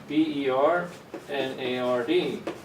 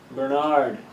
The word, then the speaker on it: Bernard: name would be pronounced Bernard right stress in the second syllable but I'm from Ireland and we stress the first syllable Bernard so the nard becomes nerd okay right so moving